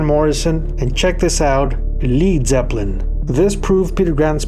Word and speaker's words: Led: British pronunciation of lead Americans would be confused had they gone with l e a d so with the scene